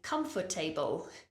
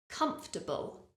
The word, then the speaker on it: comfortable: word table inside so it's quite a common mistake for people to say comfort table however listen to me and identify how many syllables it actually has comfortable comfortable it actually has three syllables so repeat after me